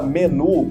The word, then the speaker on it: menu: Igual para menu de cardápio, qual que é a pronúncia correta? Menu, tem o U biquinho, o famoso U sozinho no final.